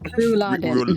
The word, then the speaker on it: Rouladen: How do you pronounce it? Bin Laden. Rouladen.